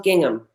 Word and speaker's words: gingham: a design thanks Brittany who would have known there was an H in there you know sometimes there's a silent H sometimes there's a silent